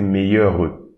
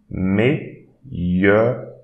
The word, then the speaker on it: meilleur: So don't pronounce this E, so don't say meilleur. No, meilleur, meilleur, meilleur.